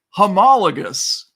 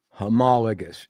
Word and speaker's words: homologous: So, um, racket readers and and ATW listeners, uh, our word of the day is homologous. Homologous.